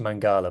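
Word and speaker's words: Maqala: I keep I keep calling him ma it's pronounced mangala but it's spelled MAA Celli mangala top scorer in the top 14 playing for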